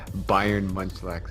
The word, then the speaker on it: Bayern Munchlax: Mega Lugia here, and yeah, you can pronounce the team name as Bayern Munchlax. It's based off of a football team in Germany, Bayern Munich.